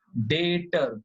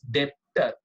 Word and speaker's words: debtor: Credit is called as डेटर, बी is silent, don't read as डेप्टर, बी is silent. तो क्या बोलोगे student, pronounce, how यू are going to pronounce, डेटर, B silent.